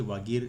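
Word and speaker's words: Vagir: वजीर बोलते हैं, वैसे वागीर इसका वैसे प्रोनाउंसिएशन है।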